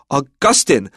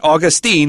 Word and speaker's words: Augustine: We're talking about the actual saint who has a Latin name and that would be pronounced Augustine like the month August. So it's not Augustine.